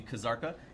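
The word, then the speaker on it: Kzarka: roll boss will be kazarka you do pronounce the K the Lord of corruption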